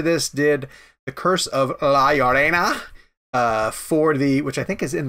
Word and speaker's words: La Llorona: The Curse of La Llorona.